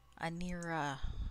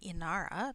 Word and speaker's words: Anira: Anira. I gotta stop saying her name wrong. It is not Inara.